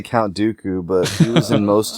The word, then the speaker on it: Dooku: I thought it was Doku, and for a while, Doku, that's pretty cool. When I found out it was actually pronounced Dooku, I then hated it.